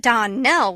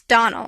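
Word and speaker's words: Donnell: not as for that don nell woman she'll get no don knelling from me i can assure you the name is donal and always has been the woman is crazy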